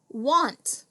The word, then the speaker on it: want: I hear an ah sound here, which would make me want to put a short O. That would totally be a blooper because it would change want into won't.